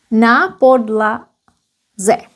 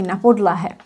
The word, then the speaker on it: na podlaze: Na podlaze. Na podlaze. It's wrong to say na podlahe. Na podlaze.